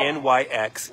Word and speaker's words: Nyx: a live at the Mega Adoption event talking about Nyx is a dog.